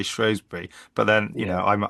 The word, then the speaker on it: Shrewsbury: Shbury or Shosby. That pronunciation is a big deal, isn't it? In that part of the world, it is. Yeah. So, my family all say Shrosbury. I say Shrosby if I'm talking to the lady that lives down the road.